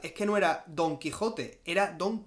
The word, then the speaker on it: Quixote: que no era Don Quijote era don quixote así era como se pronunciaba en castellano medieval como se escribe Jerez